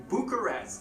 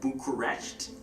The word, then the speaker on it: Bucharest: past really fast it sounds so much like Bucharest like it's an honest mistake like for real